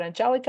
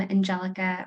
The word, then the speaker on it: Angelica: I'm Angelica, or if you're comfortable with the Spanish pronunciation, Angelica works too.